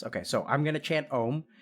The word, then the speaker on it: Om: try to chant ohm it's composed of three syllables ah ooh and and I'm gonna do it over the course of one breath okay so we're gonna start with ah and then we're gonna go into ooh and then end with them